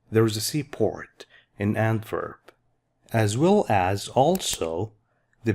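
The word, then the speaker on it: Antwerpen: Now in the Dutch language, W sounds like a V, so this is pronounced as Antwerp.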